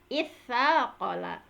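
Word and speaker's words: اثّاقل: dalam kaidahnya jaza fihi, boleh mengganti, tidak membacanya dengan tasaqola tetapi diganti dengan huruf yang sejenis dengan sa lagi. Nah, dengan huruf taknya itu tetapi diidghamkan langsung sehingga menjadi itsaqala.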